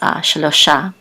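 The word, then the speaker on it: שְׁלֹשָׁה: This kamat says shelo sha. And this is the accent mark. So it's shelo sha. The accent is on the last syllable.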